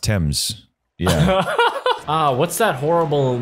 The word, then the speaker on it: Thames: don't like it you can drown in the teams I think it's pronounced Thames yeah ah what's that horrible gnashing sound oh